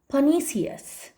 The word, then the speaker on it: pernicious: Next word is फनीसियस। फनीसियस, आर यहाँ पर silent है।